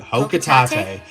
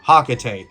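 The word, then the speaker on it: Hocotate: And I know, Palutena pronounces it Hokatate, but no one else pronounces it like that. Everyone I know pronounces it Hakatate.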